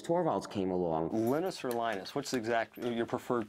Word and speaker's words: Linus: came along linus or linus what's exactly your preferred pronunciation um when i speak swedish it's venus when i speak finnish it's linos when i speak english it's linus and i really don't